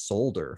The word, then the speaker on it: solder: of funny so uh the word solder which is spelled s-o-l-d-e-r i said that as solder for the longest time but then my mom and my sister's like no it's solder i'm like it's solder i'm like why is the why is there an l there like i didn't understand i'm just like why is there a silent l there so that's i it's